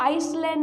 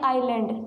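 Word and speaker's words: island: Nicobar आइलैंड जो है, आपको इसको आइसलैंड नहीं पढ़ना है, एस साइलेंट रहता है आइलैंड, ठीक है।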